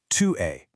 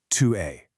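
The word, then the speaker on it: tu es: In that case you say 2 a. And a little tip that s at the end is totally silent. So it's just 2 a. Pronunciation here is 2 a.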